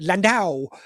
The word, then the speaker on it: Landau: at this time um and I believe I pronounce it Juliet landow and I even asked her if I pronounced